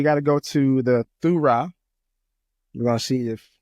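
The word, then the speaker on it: θύρα: It's pronounced Thurah, different language, different witness, right?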